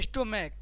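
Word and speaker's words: stomach: स्टोमक। ठीक है? यानी सी एच का उच्चारण क्या आ रहा है?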